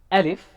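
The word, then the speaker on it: ألف: simple right alif alif it is pronounced from the empty empty space of the mouth and the throat there is really nothing specific about alif alif alif just air and it can be heavy or light depending on the letters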